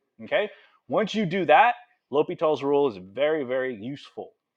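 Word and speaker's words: L'Hôpital: Sometimes it's spelled, it looks like hospital, l'hospital, but it's not. It's L'Hopitals. It's French. Okay?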